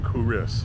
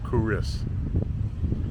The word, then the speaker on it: Culross: quick stop here in kuris spelled c l r o SS kuris this is a medieval